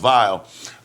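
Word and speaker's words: Weill: a composer named Kurt vile German w e i l but it's pronounced vile um and they wrote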